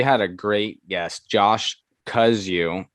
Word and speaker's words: Kozuch: a great guest josh kuzu not it's not pronounced the way it looks when it's spelled it's it's an interesting spelling but josh cuz you he is uh a